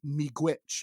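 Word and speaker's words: miigwech: quite get it but you were close it's pronounced me glitch and that means thank you which and and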